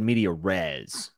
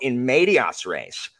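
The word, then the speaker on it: in medias res: means in instead of into um the phrases in medias race because it's into the middle of things so it makes it singular too and plural sorry well I think I said media res so I think I was way off oh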